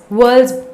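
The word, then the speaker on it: whorls: पहली बात सुनो, द फ्लावर हैज 4 मेन व्हर्ल्स, व्हर्ल्स इसको प्रोनाउंसिएशन है व्हर्ल्स, ओके।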